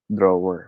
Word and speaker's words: drawer: right okay so sir drawer right it's because of the word draw because it didn't die actually in the philippines style we filipinos we tend to pronounce every letter we see in a word so it's okay but